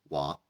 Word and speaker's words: walk: وبعدين الA والL والK دي مجموعة على بعضها، المجموعة دي بتتنطق آك زي كلمة walk talk.